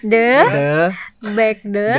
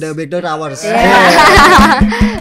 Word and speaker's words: The Backdoor Hours: Coba The The Backdoors. Backdoors Salah. Backdoors Tanpa S. The The Backdoor Backdoor Hours. Hours. The Hours. The Backdoor Hours.